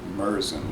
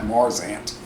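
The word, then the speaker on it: Märzen: I think it looks like a Merzen. I think a lot of brewing companies are confused between what is a It Festbier looks and like a Marzen. a Merson. Merzen, like an emergency room.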